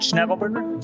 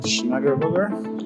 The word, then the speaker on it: Schnegelberger: Schnegelberger, Schnegelberger.